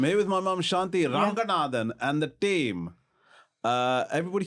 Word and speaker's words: Ranganathan: I'm here with my mom, Shanthi Ranganathan, and the team. What do you think of that pronunciation? I've gone for full Sri Lankan.